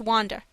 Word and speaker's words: Under: The artiste of the hall is under, pronounced Wanda, a Polish girl.